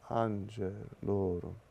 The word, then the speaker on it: angelorum: In fact, the Latin accent is really almost a melodic accent. Ecce panis angelorum. See, my voice goes up for these accented syllables.